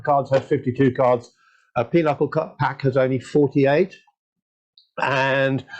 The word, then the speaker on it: pinochle: It's pinochle, isn't it? And it isn't spelled anything like that, but I believe that's how it's how it's pronounced.